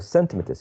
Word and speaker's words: centimeters: Centimeters, right? And centimeters, yes. Centimeters. The first syllable right here.